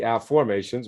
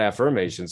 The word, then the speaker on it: afformations: afformations uh again the afformations which is spelled like a like this a-f-f-o-r ab formations not affirmations so what's fascinating about